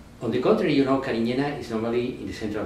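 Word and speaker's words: Cariñena: a beautiful vineyard of Carignana vines. Okay. You pronounce Carignan here. Carignana. Is more, you know, it's a Spanish grape. You sure. Can say Carignana. It's more, right. More macho. No?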